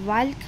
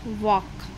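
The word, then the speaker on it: walk: क्या हो जाएगा साइलेंट अगर हम साइलेंट नहीं लेंगे तो हम इसको क्या रीड करेंगे वाल्क तो वाल्क हमने प्रोनंसिएशन क्या किया प्रोनंसिएशन गलत किया तो यहां पर एल की साउंड क्या हो जाएगी साइलेंट तो क्या बन गया यह वक अगेन टॉक एल क्या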